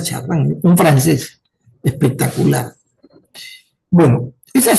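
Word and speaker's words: Chardin: Teilar de Shardán dice chardín, ¿no? Teilar de se pronuncia chardán, un francés espectacular.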